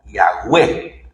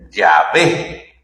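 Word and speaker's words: Yahweh: Y en hebreo se escribe con cuatro letras consonantes que podrían sonar más o menos como Yahweé. Algunos dicen Yahé, otros dicen Jehová.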